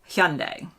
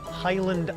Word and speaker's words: Hyundai: to say something different Hundai and Hundai not Highland I oh it's Hundai by the way hundi